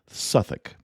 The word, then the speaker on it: Southwark: Note that in classic British style, Southwark is pronounced Suthick.